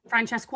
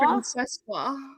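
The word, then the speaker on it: Francesca: It's villainous to not learn how to pronounce her name. Franchesco. Franchesco.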